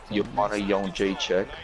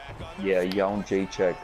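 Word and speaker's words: Jędrzejczyk: words of Joe Rogan, Jedrzejczyk. But I'm gonna pronounce it the right way because I actually know how to pronounce it. It's Joanna Jedrzejczyk. She went on to, Jedrzejczyk.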